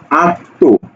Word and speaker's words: আত্ম: যে ব্যঞ্জনের সাথে যুক্ত আছে সেই ব্যঞ্জনকে দ্বিত্ব করে এবং সানুনাসিক করে, মানে কি?